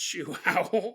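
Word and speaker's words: João: popular name in Brazil it's spelled j o AO Google told me it was pronounced shoow so that's what I was going with in the city of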